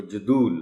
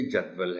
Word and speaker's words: جدول: گزارش کروں گا کہ اس لفظ کا تلفظ بہت آپ غور سے نوٹ کر لیں، بچوں کو بھی بتائیں، اس لیے کہ عام طور پر اس لفظ کو جدول بولا جاتا ہے، یہ جدول ہے۔ اس کے معنی ہیں